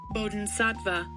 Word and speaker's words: Bodhisattva: It is pronounced as Bodhisattva.